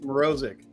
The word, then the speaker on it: Morozic: It's easy. It's Morozic Yeah, that.